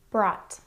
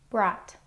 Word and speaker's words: brought: There are some words that rhyme with bought and also have the same spelling, so I've grouped these words with bought. Brought. Brought.